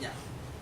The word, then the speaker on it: Nya: And actually, the Naya, the N-Y, Naya, as American we would say Naya, but the Dinka would say Nya.